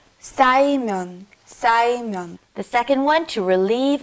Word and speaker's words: 쌓이면: Be careful with the 싸. 쌓이면.